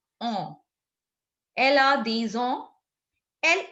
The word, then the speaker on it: ans: ANS is pronounced as on.